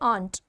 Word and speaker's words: aren't: आर plus not को हमने contract कर दिया, कॉन्ट्रैक्शन फॉर्म है, इसको हम प्रोनाउंस करेंगे आंट।